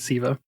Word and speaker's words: Sceva: this forgive me because my entire life i've always pronounced it skiva which is wrong but it's it's black eyed siva i tried to watch